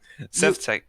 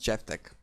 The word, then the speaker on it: Sevtek: So Sevtek is Sevtek? Is that how you say your name? I don't know. it's pronounced Chevtek.